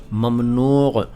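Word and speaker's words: ممنوع: देखिए, ये शब्द जो हैं अरबी के हैं, ये मैं बता चुका हूँ, लेकिन इनका अगर सही उच्चारण पूछें आप तो होगा ममनू और ममनुआ और ममनुआत और ममनूयत।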